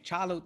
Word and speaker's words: T'Challa: the same you know t'challa actually charlotte the t is silent again that's his full